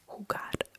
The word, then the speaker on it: jugar: So we just pronounce it as Uh for example Jamon. Jamon. Uh that's ham. Or jugar.